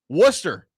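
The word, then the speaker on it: Worcester: Wooster, is that how we say this? I got fried yesterday for how I said it. Is it Wooster? Wooster? Wooster. Wooster. The Red Sox. That is not how that's spelled.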